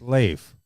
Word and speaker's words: Leif: It's Leif. Leif, life.